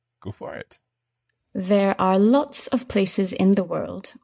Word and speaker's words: loch: So lo is a kind of unusual word in English because this sound, this ch that you make in your throat, this doesn't exist elsewhere in English.